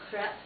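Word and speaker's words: crêpe: French as you know called The Crepe the crep most people might not know that but it is true it's actually pronounced crep and it has that little circumflex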